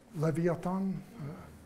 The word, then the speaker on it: Leviathan: you have seen Leviathan the Russian film levee a thong I have to pronounce it the correct way okay so most of